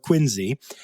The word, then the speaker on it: Quincy: place in quiny Massachusetts it's spelled Quincy but you can't call it that got to call it quiny and the first one